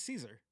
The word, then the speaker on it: Cesare: There's Cesare, it was Caesar.